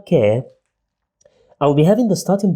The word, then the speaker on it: ك: we pronounce it as k care just like k sound in english care let's see an example